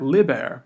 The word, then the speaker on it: liber: And you'll notice that liber, book, has a short I. Liber, with a long mark over the I, means something different. It means free.